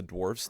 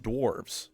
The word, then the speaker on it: dwarfs: of mining and mountains because that's just what dwarfs love. They do have three things that make them stand out though. The first is that it's pronounced dwarfs, not dwarves.